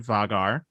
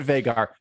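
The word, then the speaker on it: Vhagar: wrote vagar vagar um i say it veigar how do you guys say it vagar veigar or other yeah let us know um so veigar i'm going to go with that now because that sounds nice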